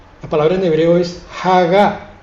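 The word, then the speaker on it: הגה: palabra en hebreo es Hagá, con H final, H inicial, Hagá. Graben por favor bien ese sonido, Hagá. Incluso algunos le dan una W, Hagao, más o menos, pero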